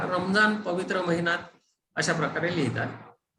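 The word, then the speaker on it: رمضان: आता काही लोक ह्याचा उच्चार थोडासा द सारखा करतात आणि इंग्रजीमध्ये स्पेलिंग लिहिताना आपण रमदान असं स्पेलिंग लिहिलेलं तुम्हाला आढळेल, पण ऍक्च्युअली त्याचा द हा उच्चार नाही आहे. ऍक्च्युअली उच्चार जो आहे तो रॉ असाच उच्चार आहे आणि बऱ्याच शब्दांमध्ये हा येतो.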